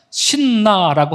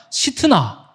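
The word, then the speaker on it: 싯나: 우물의 이름을 뭐라고 합니까 신나라고 하는데 좀 이건 발음이 좀 안 좋고요 시 나라고 해야 좀 정확합니다 왜냐 시트나 시트나 시트나이 말은 여러분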